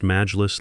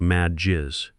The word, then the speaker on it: majlis: She pronounced majlis like mad jizz, which if you know Arabic, sounds like she's talking about angry bodily fluids instead of a council meeting.